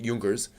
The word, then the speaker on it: Junkers: In terms of movies, there is Junkers Come Here, and yes, it's supposed to be pronounced Junkers.